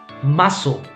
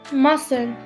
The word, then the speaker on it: muscle: could be the verse muscle muscle muscles but it's so the c is silent okay muscle okay honest